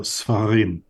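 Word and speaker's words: ספרים: So you notice here, under this samach, we have a shva, two dots, two vertical dots. So sfarim.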